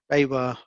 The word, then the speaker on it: BayWa: There's a really funny video of people trying to pronounce the name. It is it's quite, yeah, have a look. It's BayWa.